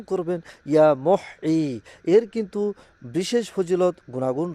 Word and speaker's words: ইয়া মুহয়ী: আর তা হচ্ছে আল্লাহ তাআলার পবিত্র গুণবাচক নাম ইয়া মহ ইয়া মহ। সঠিকভাবে উচ্চারণ করবেন ইয়া মহ।